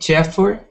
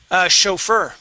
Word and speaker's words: chauffeur: And Chaffer? Chauffeur. Chauffeur. Okay. Chauffeur. Okay, remember, all of these SHs have, the CHs here are SH sounds.